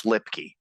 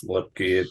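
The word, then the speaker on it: Luepke: Which, by the way, Low Man Award Committee, it's Lipke. Yeah, it's Lipke.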